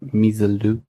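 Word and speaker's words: Misirlou: Like Misalou. Okay. If I absolutely butchered that in pronunciation, how would you say it? Misalou. No, I think that's about right. Misalou.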